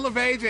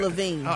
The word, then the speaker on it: Lavigne: Avril Lavigne. Avril Lavigne. Why do I always say You said Avril Lavigne. Avril Lavigne. G is silent. It's silent.